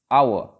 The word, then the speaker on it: hour: Similarly, the next word, hour. We are writing H-O-U-R, where H is silent, and the sound that begins A.